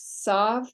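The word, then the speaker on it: ת: Kuf, Resh, Sheen, Seen, Tav, and in Ashkenazic synagogues, sav, but we pronounce is as a T.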